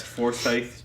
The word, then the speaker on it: Forsyth: Is that how it's pronounced? Yes, Forsyth, Georgia.